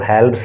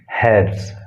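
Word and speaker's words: halves: इसके प्रोनाउंसिएशन पे आप ध्यान दोगे, इसको हेल्प्स नहीं बोलोगे बल्कि इसको क्या बोलोगे, हैव्स।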